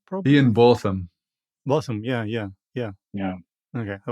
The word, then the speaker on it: Higginbotham: So you said Botham, not bottom.